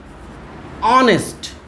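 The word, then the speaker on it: honest: এখানে এইচটা কি সাইলেন্ট, তাই তো? সাইলেন্ট আছে, তাহলে অনেস্ট উচ্চারণ করছি। দেখো এই সাইলেন্ট, আমরা যদি এইচটা বাদও দিই অনেস উচ্চারণ আসবে।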